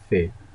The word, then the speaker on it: ف: Fe, a little round. Okay, this one is not right. In English language, it is pronounced as fe, fe, fe, fe.